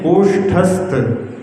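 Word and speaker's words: कोष्ठस्थ: परम पढ़िएम संसारी चतुम कोठस्थ ऐसा बोलते कोठस्थ नहीं कोष्ठस्त सही जो है उसका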